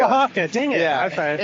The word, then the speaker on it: Oaxaca: Oaxaca. It's not close. It's very close. Well, what is it? It's Oaxaca. Oaxaca.